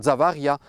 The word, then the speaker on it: Javerlac: Javerlac en occitan, on continue de dire Zavaria, mais en français la prononciation traditionnelle a disparu.